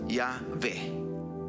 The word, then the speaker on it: Yahvé: Con el paso de los años se le agregaron vocales con la intención de que la pronunciación diera sonido a cómo suena realmente el tetragramatón, y es Yahvé.